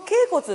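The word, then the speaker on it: 脛骨: れてる、すねって書いて脛骨って読みますよね。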